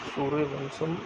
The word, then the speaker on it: सूर्यवंशम: सूर्यवंशम pronounced bye सूर्यवंशम translate solar dynasty 1999